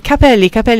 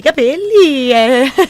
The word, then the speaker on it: capelli: Tanti capelli. Ok, fino a lì ci arrivo. Solo che a seconda della pronuncia, capelli o cappelli.